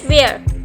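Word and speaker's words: where: For example जैसे यहाँ पर लिखा है वेयर, अब इसमें W के बाद H है तो इसको ऐसे नहीं बोलेंगे वेयर, तो यहाँ H साइलेंट है, हम बोलेंगे वेयर।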